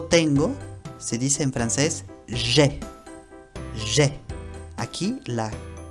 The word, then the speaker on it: j'ai: Entonces, aquí se pronuncia j'ai. J'ai. Y el verbo ai, que es tengo, se pronuncia e, la boca bien abierta.